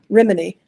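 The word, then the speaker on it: Rhíminee: okay the capital of Scala how do you pronounce the name of the capital of Scala reminy okay are you aware of reminy city in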